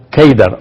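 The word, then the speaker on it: قيدار: En árabe la palabra Cedar se pronuncia Keidar o se escribe Keidar.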